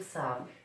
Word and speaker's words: savent: Remember, as I keep telling my students, you do not pronounce the ENT in a verb. So it just becomes ils savent.